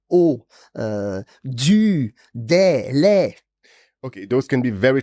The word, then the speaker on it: les: Don't say the S, it's le.